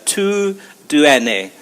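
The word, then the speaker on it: TUDN: is T UD n but the way you pronounce it is to do n a which is the Spanish translation of kind of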